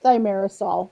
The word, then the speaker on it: thimerosal: correct your pronunciation Yeah, really quickly? say it. It's thimerosal.